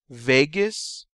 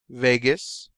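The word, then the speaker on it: vagus: to deal with digestion Vegas rhymes with anus and you use this for defecation so remember 10 Vegas rhymes with anus this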